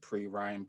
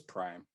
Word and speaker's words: PRhyme: I'm gonna go with an album I referenced in the previous segment as PRhyme, or some people like to pronounce it PRhyme, but it's PRhyme, PRhyme.